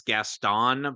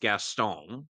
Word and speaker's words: Gaston: correctly which is so much interesting because everybody pronounces as Gaston but it's pronounced gastone my would a guy that g he sounds